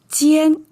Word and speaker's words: jiàn: So pronunciation also carried over from jiàn, except here is jiàn, fallen tone.